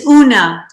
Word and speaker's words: Oonagh: It's Oonagh. It's Oonagh. Gaelic, that GH is like just to confuse people. Okay. It's silent.